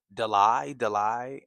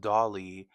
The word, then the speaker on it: Dolly: I got I joined the live and I said my name is pronounced Dolly and then there was something like oh you're correcting me you're correcting me.